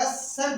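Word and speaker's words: ascent: देखो यहाँ इस जगह पे एसेंट होना चाहिए था, क्या होना चाहिए था? एसेंट, बट इस सी को हम नहीं पढ़ते।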